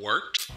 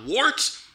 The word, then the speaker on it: Wort: It's pronounced the Wort. What is it? The wort? Yeah, okay, I'll do that again. This is the Wort on Govs Radio. It is the Wort. Not warts, not forts, not short.